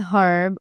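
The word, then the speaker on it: herb: In most American accents the एच इन हर्ब is silent. कि बहुत से American accents में जो एच होता है हर्ब में वो साइलेंट होता है। सो अमेरिकनंस यूजुअली से एन हर्ब।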